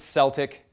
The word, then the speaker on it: Celtic: very minor character in Celtic mythology I know some of you pronounce it Celtic but I don't Celtic Celtic schmel the little people